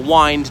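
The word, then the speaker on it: wynd: And so many of these little alleyways are called something or other court, or wind, W-Y-N-D, as in alleyway. They spell it with a Y, so you don't think it's wind.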